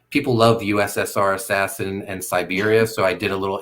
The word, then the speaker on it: Siberia: meant here you know kind of phonetically it looks like cyber but it's Siberia yeah I like that